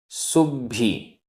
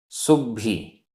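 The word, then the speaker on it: सुब्भि: है, अणेगरुवाइम, अवि, अवि, सुब्भी, आधा ब भ, सुब्भी, दुब्भी, आधा ब भ,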